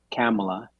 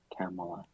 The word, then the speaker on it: Camila: relationship with as researcher it's camela it's spelled Camila but it's says she says it's like Pamela but with a K camela and you know now